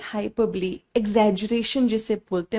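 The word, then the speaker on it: hyperbole: इसको बहुत सारे बच्चे हाइपरबोल बोलते हैं, तो मैं आपका थोड़ा थोड़ा प्रोनाउंसिएशन भी करेक्ट करती रहूंगी, क्योंकि मेरे स्कूल में भी बच्चे इसको हाइपरबोल बोलते हैं, बट दिस इज हाइपरबली।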